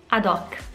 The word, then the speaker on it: ad hoc: And last one, I know you use this too, but the pronunciation is ad hoc.